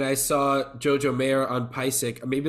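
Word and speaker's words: PASIC: Jojo mayor at uh I think they pronounced it pie sick but I've heard people say basic but that like percussion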